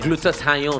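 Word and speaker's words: glutathione: They are also, because the major thing in that stuff is glutathion, which is basically glutathion. That's how it's pronounced.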